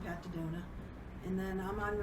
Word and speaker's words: Daddona: So I'm on Facebook I've got a page on Facebook, and it's just under my name, Pat Daddona. And then I'm on How do you spell that for people?